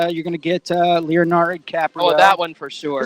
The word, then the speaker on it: DiCaprio: DiCaprio.